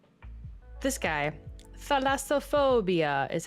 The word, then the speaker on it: thalassophobia: it like deep deep deep you know uh pronounced how to say this guy thalassophobia is how he said it in youtube the lassophobia yeah so sometimes i get caught in these